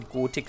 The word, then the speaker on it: Gothic: ist ein deutscher Entwickler also müsste es normalerweise Gotik heißen und nicht gosic weil gosic wird ja englisch ausgesprochen aber ich hatte damit